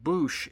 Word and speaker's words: Boushh: Boushh. I've heard it pronounced all 3 ways, but I believe Boushh is the correct way.